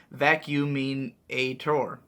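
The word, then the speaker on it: Vacuuminator: of the vacuum inator since people often ask it's pronounced vacuum Ator exactly what I was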